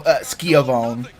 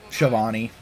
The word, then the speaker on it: Schiavone: And at the beginning, Jericho does normal Skiavone. And at the very end, he just looks at Tony and goes like, I have a match to go win, Schiavone. Like, actually pronounce his name right and just go like,